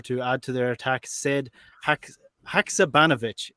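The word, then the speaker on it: Sead Haksabanović: Sead Haksabanovic is how we're pronouncing it from now.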